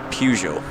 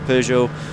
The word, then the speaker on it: Peugeot: Enter into the fray Peugeot. That is how I pronounce it, by the way. I'm Scottish, we all pronounce it Peugeot, not Peugeot.